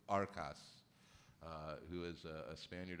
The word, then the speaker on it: Arcas: are by Santiago uh I always pronounce his last name incorrectly I believe it's arcas uh who is a